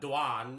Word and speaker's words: Doan: you're right Vinnie uh danan is how we pronounce my last name correctly but I came to